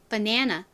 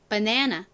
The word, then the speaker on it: banana: 한국에서는 이것을 바나나 이렇게 발음을 하지만 사실 미국 사람들은요. 이거를 어떻게 발음하냐면 banana, banana 이렇게 발음해요. 저희 귀에는 좀 이상하게 들리죠? 근데 사실 이게 바나나의 원래의 발음입니다. 바나나가 아니라 네, banana, banana 이렇게 발음을 합니다.